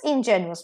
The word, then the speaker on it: ingenuous: Ingenious, ingenuous. Pronunciation भी different है इसके वजह से.